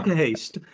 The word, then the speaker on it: Knokke-Heist: is in a place now now you must pronounce this for me it's in a place called Noah Heist Noah Hast yeah Noah Hast and I when I looked it up because